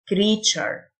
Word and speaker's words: creature: مخلوق أو كائن creature، التيو تنطق التشه، creature.